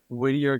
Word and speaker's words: Whittier: Whittier? Is that how? Yeah, What? I'm out in Whittier, California right now.